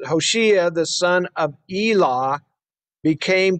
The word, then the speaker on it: Hoshea: would be 732 bc hoshea oshiya's better way to pronounce it hoshiya the son of elah